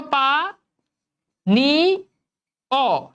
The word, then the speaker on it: পানীয়: আছে তাই না, পানীয়, এই ইয় প্রত্যয় থাকলে সেক্ষেত্রে উচ্চারণে কি হয়? শেষে ওকার চলে আসে। তাহলে দেখো পা নি অ, ঠিক আছে, হয়ে গেল উচ্চারণ। দেখছো ইয় প্রত্যয় থাকার কারণে শেষে ওকার আসছে।